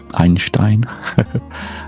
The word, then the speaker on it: Einstein: Um, I think my favorite quote is one from Einstein, pronounced the German way, Einstein, and he says, "I have no special talent.